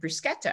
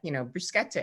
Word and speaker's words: bruschetta: And so we went and I ordered bruschetta. I said, I'd like, bruschetta. And the guy said, ma'am, it's pronounced bruschetta.